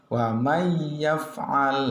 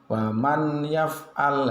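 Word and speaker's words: وَمَنْ يَفْعَلْ: bertemu dengan huruf ya'\R cara membacanya harus dimasukkan wamayyaf'al seperti itu tidak boleh waman yaf'al itu salah, yang betul wamayyaf'al berikutnya wamayyudlillah, tidak boleh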